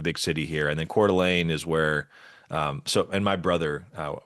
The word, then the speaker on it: Coeur d'Alene: So Coeur d'Alene is the Okay.